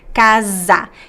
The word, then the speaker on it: casa: in Portuguese and also if you have find the letter s between two vowels in Portuguese use this it's also the z sound like the word Casa if you say casa